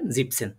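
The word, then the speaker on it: siebzehn: না হ্যাঁ এটা একটু খেয়াল রাখবেন জিপেনসেন বলে ফেলবেন একটু একটু খেয়াল রাখবেন জিপসেন ঠিক আছে আর এটা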